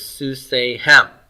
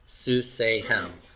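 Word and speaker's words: סוּסֵיהֶם: So this is Susehem, accent on the N. Susehem, their horses, and it's a masculine they.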